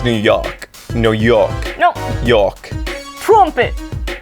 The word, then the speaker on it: New York: You say it like New Yolk, like an egg yolk. New York. Yeah. It's New York.